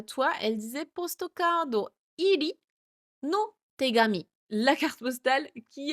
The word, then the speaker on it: 入り: Et donc là elle demande pourquoi on a vu donc iri donc c'est toujours le kanji de hairu hairimasu mais qui se prononce ici iri.